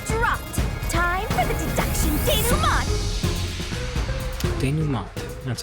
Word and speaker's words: denouement: Time for the deduction denouement!